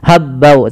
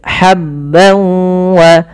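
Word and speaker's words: حبا: Linukhrija bihi habban wa, ha kecil, hati-hati jangan sampai dibaca habbau, tapi habban wa, tanwin bertemu waw sebagaimana yang tadi, yaitu idgham bi gunnah.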